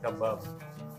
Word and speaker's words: kebab: Kebab pala tamang basa doun pero ang spelling kebab. Kebab. KBab sa English eh. Pero sa Arabic po kasi ang pronunciation namin ay kbabab.